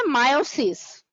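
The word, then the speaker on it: miosis: মায়োসিস means constriction of pupil, এটার প্রোনাউন্সিয়েশনটা হবে মায়োসিস। আর মিওসিস যেটা, ওটা হলো আমরা সেল ডিভিশনে যেটা পড়ি।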